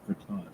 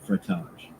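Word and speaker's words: frottage: educator they'll call that frage really f r o TT a g e frage frage it rhymes with fromage and it's just as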